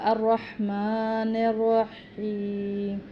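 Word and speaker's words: الرحمن الرحيم: اسی طرح یہاں پر الرحمن الرحیم، یہاں پر بھی دونوں ہا جو ہیں وہ حلق سے ادا کیے جاتے ہیں، میم کو کھڑی زبر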